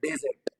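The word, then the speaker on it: desert: इसको प्रोनाउंस कैसे करेंगे we will be pronounce this word S अ डेजर्ट डेजर्ट डेजर्ट डेजर्ट okay अब नाउ यू सी कि जो स्ट्रेस है that is नॉट ऑन the second syllable how many syllables are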